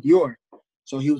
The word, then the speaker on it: Dior: It was Bonjourno, Dujour, but he could never say my name, Dior.